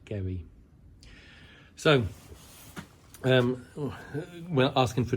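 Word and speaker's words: Garioch: shop called Gary something it is written g a r i o a c h but it's pronounced Gary so um we're asking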